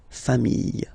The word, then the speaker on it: familles: the plural form, les familles. Okay, remember, chien, singular form, chien, same pronunciation, but you put this s. Okay, final s, not pronounced. Famille, singular form, famille, plural form, same pronunciation, s, not pronounced.